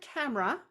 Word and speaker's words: camera: When you say the word camera, there are 2 syllables.